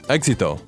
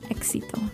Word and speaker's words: éxito: Okay, it's E-X-I-T-O. Éxito. Éxito. So it sounds and looks exactly like the word exit.